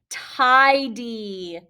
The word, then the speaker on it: tidy: desk had to be tidy tie d tidy has two open syllables the i is saying its name and that y is saying that long e check your sentence make